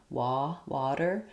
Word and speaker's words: water: So one thing I will do is write it like water, or water, so that you recognize that the T is just like how we say D in the middle of words that's flapped. We have first syllable stress, and the letter A says an ah vowel, water. It may be a little bit rounded. It doesn't go all the way to water.